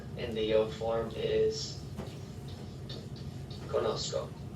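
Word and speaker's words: conozco: there and conocer in the yo form is conosco c c o so when we're thinking about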